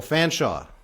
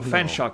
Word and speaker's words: Fanshawe: Oh, Fanshawe. Oh, there's an E at the end. You don't pronounce the E? Okay, so Fanshawe College.